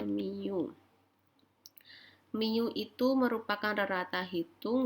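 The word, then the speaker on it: μ: Ini namanya mu, cara bacanya mu.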